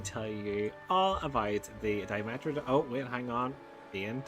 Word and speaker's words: Dimetrodon: Dimetrodon, pronounced Dimetrodon, roamed the Earth nearly 300 million years ago, long before the first true dinosaurs appeared.